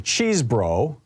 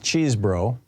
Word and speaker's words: Chesebro: Cheesebro, Kenneth Cheesebro. Apparently he pronounces his name Cheese, even though it's spelled C-H-E-S, E-B-R-O, like Chesebro.